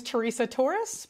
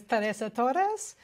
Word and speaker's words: Teresa Torres: I say my name is Teresa Torres, but half of my family are native Spanish speakers, and they would say that my name is Teresa Torres.